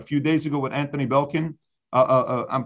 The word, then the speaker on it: Blinken: Meaning, yesterday, I think 60 Minutes was done, a few days ago with Anthony Blinken? I'm pronouncing his name wrong. Blinken.